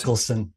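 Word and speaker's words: Michelson: Moley or Miklson Moley correct me if I'm pronouncing it wrong um experiment Michaelelsson in America here okay um well maybe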